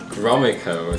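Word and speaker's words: Gromyko: the following day resulted in a meeting with gromaco that's how you say it talking about Cuba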